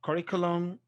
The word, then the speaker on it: curriculum: we have exceptions pendulum curriculum now for pendulum is stressed on the first for curriculum it moves to the third from the end okay so pendulum and